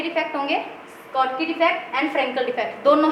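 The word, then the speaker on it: Schottky: First आएगा इसमें स्कॉटकी defect, इसकी प्रोनाउंसिएशन देख लेंगे आप, इसको स्कॉटी भी बोल देते हैं कई, मैं इसको स्कॉटकी ही बोलती हूँ, ठीक है।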